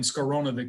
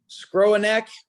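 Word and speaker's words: Skowronek: how do we pronounce i've been calling him scarona forever but that's probably a butcher of his name but yes scrooneck but uh we'll we'll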